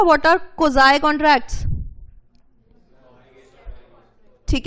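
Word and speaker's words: quasi: पढ़ा था what are कोजाई कांट्रैक्ट्स ठीक है this is pronounced as कोजाई contract ठीक है दिस इज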